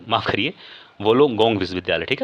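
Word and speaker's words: Wollongong: गया तो इसका हो जाएगा डिकन विश्वविद्यालय और वोलोंगों माफ़ करिए वोलोंगोंग विश्वविद्यालय। ठीक है? थोड़ा सा उच्चारण 19-20 हो जाता है।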